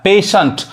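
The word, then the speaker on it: patient: क्या कह रहा है जब किसी वर्ड में टी के बाद आई ई या टी आईई एन टी एक साथ आए तब टी का उच्चारण श होता है देखिए एग्जांपल देखिए कोई वर्ड है उसमें टी आई एनटी एक साथ आना चाहिए तो वो क्या पढ़ाता है श पढ़ाता है पेशेंट अब बोलो इसको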